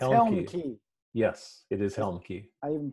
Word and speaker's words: Helmke: Yes, it is Helmke. I even pronounced it right.